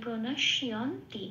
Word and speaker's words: প্রণশ্যন্তি: এবার যেহেতু তার্গস্বয় জফলা, তাহলে তার্গস্বয়ের উপর হস্যই প্লাস অন্তস্থ পড়ে দিলে যে উচ্চারণটা বেরিয়ে আসে শিয়, এখানে উচ্চারণটা হবে সেটা শিয়, তাই প্রণশ্যন্তি।